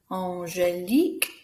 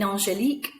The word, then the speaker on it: Angélique: In Angélique, we have got a QUE, and that QUE is said like a K sound.